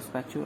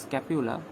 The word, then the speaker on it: scapula: the spatula okay okay sorry statue i'm i'm just mispronouncing it it's scapula sorry scapula scapula forming the